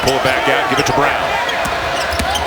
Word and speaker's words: Braun: out give it to brown spelled like braun renounced like brown offensive foul no matter